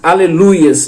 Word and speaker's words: aleluia: errado, assim como diz aleluias também, não é aleluias, quando no hebraico é aleluia, a pronúncia correta é aleluia.